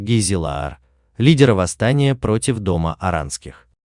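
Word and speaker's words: Gijzelaar: Кеесхонд был назван в честь Корнелиса де Гизелаера (на современном голландском языке произносится как «Гийзелаар»), лидера восстания против Дома Оранских.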